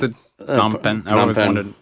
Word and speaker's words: Phnom Penh: Phnom Penh. I always wondered. It has a PH.